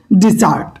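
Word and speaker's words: desert: তার আগে দুটো নিয়ম শিখি এখানে একটা হচ্ছে ডিজার্ট ডেসার্ট অর্থ মিষ্টা এবং ডেজার্ট অর্থ মরুভূমি বানানের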